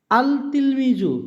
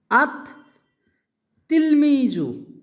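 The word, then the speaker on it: التلميذ: আঙ্গিকে হওয়া উচিত ছিল আল তিলমিজু, কিন্তু এমনটা হয় না। এটা উচ্চারণটা হবে এভাবে, এই লামের উচ্চারণটা হবে না, আত তিলমিজু।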